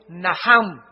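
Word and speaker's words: נחם: el Antiguo Testamento es naham en el hebreo que se escribe nachan la ch en el hebreo se pronuncia como j y significa cambiar la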